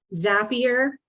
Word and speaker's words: Zapier: grammar it's a lifesaver zapier it rhymes with rhymes with happier it will automate some